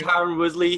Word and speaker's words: Tyron Woodley: Do you think Tyron Woodley, his popularity was affected by Dana White's comments and his perception that he gives about Tyron Woodley?